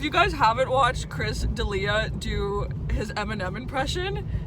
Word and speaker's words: D'Elia: say his last name it's not Delia Chris D'Elia there we go Chris D'Elia is doing